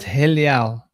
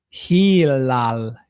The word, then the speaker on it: Hilal: this name because they they call it Helal Helal But it's actually Hilal.